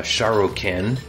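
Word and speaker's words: Šarru-kīn: he called himself and if we're speaking his language a Cadian we would pronounce his name uh shokin which means true or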